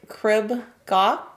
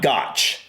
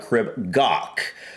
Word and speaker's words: Crib Goch: we're close crib gaw I don't know how pronounced the C and the H are at the end of gawk but I know it's not gotch I do know that